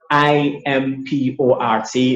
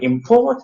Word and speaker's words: import: So when import is a noun, the stress is on the first syllable, as you can see there. But when import is a verb, we put our stress now on the second syllable.